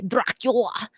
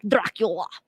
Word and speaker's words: Dracula: for the 1897 novel Dracula according to the study and that is the only way you can say Dracula is just like that if you say it any other way you're saying it wrong and now and I